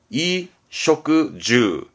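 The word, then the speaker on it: 衣食住: 발음은 이쇼크주, 이쇼크주입니다. 의식주, 이쇼크주, 의식주, 이쇼크주.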